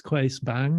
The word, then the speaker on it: Claes Bang: But to be able to bring something new and fresh, and the casting process, Claes Bang, is that how you pronounce his name?